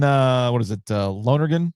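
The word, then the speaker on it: Lonergan: Uh Lonergen at BC, right? That's how you pronounce his last name.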